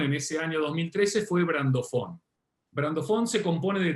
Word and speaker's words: brandofón: Se escribe brandofón y se pronuncia brandofón y significa lo mismo en español y en inglés.